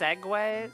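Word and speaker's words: segue: Is it really pronounced Segway?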